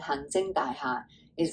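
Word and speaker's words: 行政: example, well, first to say it, it's our hang zeng. I probably don't say that high enough. Hang zeng dai ha. There we go. This means administration. And what I had just said, hang zeng dai ha, is like an administration building.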